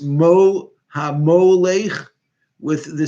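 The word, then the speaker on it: הַמֹּלֵךְ: who ruled from hodudu kush secondly the word hamolekh who ruled or who reigned it should have the letter vav in there because it's pronounced mo hamo leich with the sound of a hollam and that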